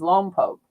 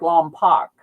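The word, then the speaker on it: Lompoc: They shoot the missiles off and uh the town in there is Lom Poke, but people always pronounce it wrong because it looks like Lom Pac and I'll hear it in movies and I'll hear it on the news or something.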